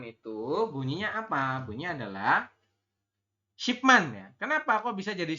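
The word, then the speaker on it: 십만: makanya untuk 100100.000 itu dibacanya adalah shipman artinya apa ini puluhan ribu kan Man kemudian ditambah dengan yang 10 ini di depan adalah SH seperti itu Mak kita bacanya Shi Man ya kalau misalkan ada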